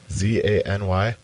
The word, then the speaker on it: zany: Z-A-N-Y?